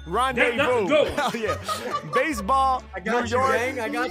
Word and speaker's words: rendezvous: It's a lot of silent words in rendezvous, because I would never spell it like that.